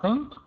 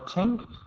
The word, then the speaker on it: think: For your pronunciation, the only thing I noticed was your pronunciation of think. It's almost perfect, almost. But just make sure it doesn't sound like the word tink.